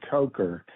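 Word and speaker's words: Kocher: Yeah, they The new athletic director, his name is Brad Coker. He spells k o c h e r, but he pronounces it Coker.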